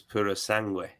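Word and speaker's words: purosangue: of his Italian lessons tells me that it's Puro sangui yeah you would know he would know you've been uh talking uh pronunciations with him yo it's your wife must love you in of an evening it's Italian for thoroughbred and is that right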